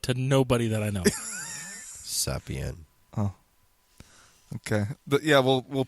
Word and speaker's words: Zapien: Zapien. I wanted to hear him say it because I'm positive I've always said it wrong. Zapien.